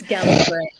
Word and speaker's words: Gallifrey: Gallifrey. Doctor Who. Huh. It's Gallifrey.